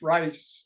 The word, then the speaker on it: Ries: and uh Fred how do you pronounce his last name I I thought it was pronounced rice rice rice sounds good